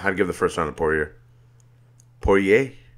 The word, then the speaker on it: Poirier: give the first one Poirier Poirier how would you pronounce in the watery pouring here oh yeah yeah it's Cajun ba ba French ba ba it's from Louisiana raging his occasion gate